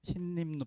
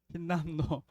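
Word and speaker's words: 힌남노: 흰림노, 발음도 어려운 흰림노, 흰남노인가요? 흰남노. 발음이 좀 어려워요. 흰남노.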